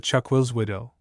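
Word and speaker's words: chuck-will's-widow: low chant of the chuck will widow, a name which the owner himself pronounces with a rest after the first syllable.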